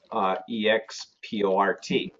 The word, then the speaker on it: export: And when we say EX consonant, the rule says the pronunciation is EKS consonant.